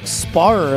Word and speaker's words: Sparrer: gets very confusing because as an American you pronounce it Sparrer like somebody's sparring with you you know yeah I